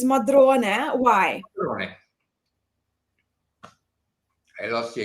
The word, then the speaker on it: Modrone: Also, well, before actually, with Modrone, let's clarify the pronunciation because, in the English-speaking world, everyone calls it Visconti Modrone, but the correct name is Modrone.